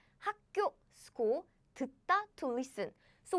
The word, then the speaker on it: 학교: So, yes, basically this pronunciation happened because the consonant in the Batchim position and the first consonant of the next syllable are 다른, same. So the first consonant of the following syllable is pronounced as a double consonant.